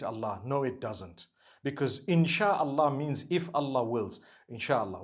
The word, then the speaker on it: insha'Allah: Inshi means to create. No one says inshi Allah. They say insha'Allah.